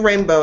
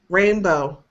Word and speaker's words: rainbow: Okay, do rainbow again. Rainbow. Yeah. So that's that drifting off thing again. So rainbow. If you say rainbow, that's still too much emphasis on bow.